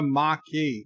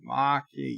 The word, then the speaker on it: Maquis: Syfy's is Berta pray remember to pronounce it the Maki Maki yes and number one